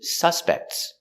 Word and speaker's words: suspect: There are 3 suspects. Suspects. And the action, the verb, I suspect. Put the stress on the second syllable.